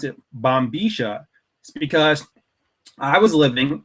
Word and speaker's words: bombilla: that I pronounce it Boma is because I was living in uh buen Osiris the city of Bomar of Argentina and they have a distinct dialect there it's called the porteno dialect okay now that's the